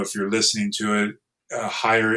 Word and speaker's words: Heyer: Um, again, if you're not watching this video, if you're listening to it, Higher is my last name and it's spelled H E R.